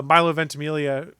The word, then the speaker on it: Milo Ventimiglia: sodom oh yeah but in all searches uh milo ventimiglia who you would did you watch uh heroes